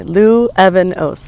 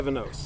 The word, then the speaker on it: Luevanos: So if you put an Evan in the middle, then you'll never mispronounce my name. So you say Luevanos, and then you put it together. Luevanos.